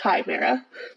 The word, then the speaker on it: chimera: come here oh yeah that's pronounced chimera that's right because I always